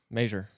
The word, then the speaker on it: measure: You got- Major. Sure. There's an A in there. measure. Ugh. You're saying it wrong. Measure. Yeah, you said, Measure. Measure. Measure that. Not Major.